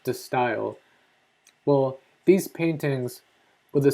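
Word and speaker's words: De Stijl: the steel it looks the word looks like you would pronounce it the steel but I think it's pronounced the style well these paintings with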